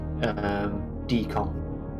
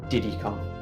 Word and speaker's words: Di10kong: Jay keeps calling Diddy D10kong and just ignoring the 10. But I actually love Diddy's name. It's a great little pun. So yeah, 10 in French, D-I-X pronounced D, hence Di10kong.